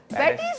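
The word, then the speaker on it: patties: Cake खिलाया ना कोई पैटस खिलाए हमें। पैटस कहते हैं ना लोग, पैटीज क्यों नहीं कहते, पैटस क्यों कहते हैं? बस ये कुछ लफ्ज ऐसे हैं जो लोग प्रोनाउंस हमेशा गलत ही करते हैं।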